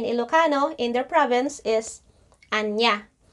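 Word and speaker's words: ania: in their province is anya. So I just don't know if it's pronounced anya because the spelling is A-N-I-A.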